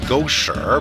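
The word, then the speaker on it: 狗屎: For one thing, it has tones, so that ma, and ma are all different words. And gosher means dog food, but gosher means dog excrement.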